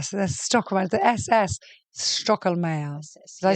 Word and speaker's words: Stoecklmayer: I mean, this beautiful name, this alliteration, Samantha, so the Stoecklmayer, the SS, Stoecklmayer.